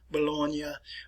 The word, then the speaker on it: Bologna: And I will pronounce these in Italian for you. Venetia, which is in the north and the eastern parts of the Italian peninsula. Genova, Milano, Bologna, Palermo, which is in